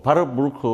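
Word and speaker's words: Warburg: 이게 이제 독일어는 뭐 바르부르크 뭐 이렇게 돼 있는데 저는 영어로 와버거라고 읽는 게 더 편한 것 같아서.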